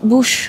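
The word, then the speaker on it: Buschstraße: Bu Bush değil mi? Bush okunuyor. Buh mu? Yok Bush. Bushstrasse.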